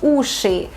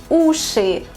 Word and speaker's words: уши: Please pay attention to the last sound of the word, because it's not ushi, it's not like that. It's ushi, ushi, sound at the end of the word, ushi. So again, we say ushi